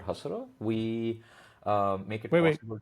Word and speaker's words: Hasura: I'm the CEO co-founder of a company called Hasura.